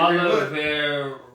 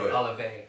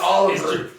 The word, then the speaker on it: Olivier: I thought it was Oliver. No, but it looks like Olivier or whatever. But it's French, right? So you can't just say it like a regular R and all that.